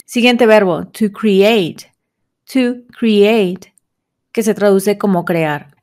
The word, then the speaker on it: create: está escrito create pero en inglés casi siempre que veas la e y la a juntos lo vas a pronunciar como una y no como suena en español create no sino como y create y normalmente las palabras que terminan en e la e no se pronuncia entonces de nuevo no